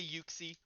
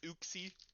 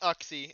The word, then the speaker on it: Uxie: I say Yuxie. I've heard oopsie. If anyone says in this chat, they're banned. Okay. It's not Oxie. And you're lying if you say that.